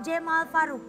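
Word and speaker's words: Cemal: Ini dibacanya Cema apa Jemal Faruk? Jemal Faruk. Jemal. Jemal. Jemal. Ya, oh. Jadi kalau C dibacanya J.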